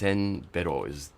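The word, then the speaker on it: せんべろ: Senbero is the way that you would pronounce it.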